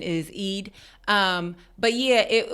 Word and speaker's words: Eid: I mean, it was Ramadan, but uh it was the id.